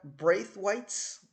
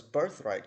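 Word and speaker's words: Braithwhite: right the brave right braith whites okay and at first i thought it was birthright because in the a lot of the promos they kept saying this birthright is ours this birth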